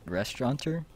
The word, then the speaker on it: restaurateur: Restaurateur? Yes, a restaurateur was the way we pronounce it.